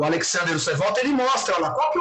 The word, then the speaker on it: Osterwalder: eu não sei pronunciar direito, eu acho que o nome dele pronuncia Alexander Osterwalder, porque ele é suíço, né? Então, acho que ele é Swiss-German, né? Então deve ter um Walter ali. Quando ele traz esse conceito